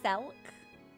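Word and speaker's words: Selch: It's pronounced Selk.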